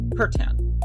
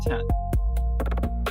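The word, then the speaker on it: C'tan: It looks like it's called the Satan, but apparently it's pronounced Curtan. So, yeah, that's the only way I'm calling them. That's the only reason I'm calling them that is because that's what I was told it's pronounced is it's Curtan, not Kan.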